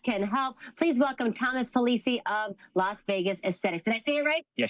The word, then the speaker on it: Pulice: Please welcome Thomas Pulice of Las Vegas Aesthetics.